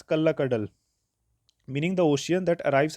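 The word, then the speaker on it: Kallakkadal: So, in spoken language, these words were combined and pronounced as Kalla Kadal, meaning the ocean that arrives as a thief.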